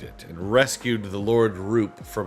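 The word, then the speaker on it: Rhoop: They went into the Dark Island, Father Mean, and defeated it, and rescued the Lord Roop from its clutches. No, I always thought this spelled.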